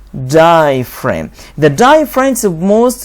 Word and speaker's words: diaphragm: f die frame and g is silent diaphragm diaphragm the diaphragm is the